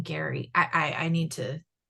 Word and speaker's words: Gerry: Maybe it is Gary. It It's just a hard It's a hard G. I know that. Maybe I'm misspeaking the E. And maybe it is Gary, but I'm thinking they're saying Gary.